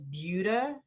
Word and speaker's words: Buda: It's Buda. Is that right?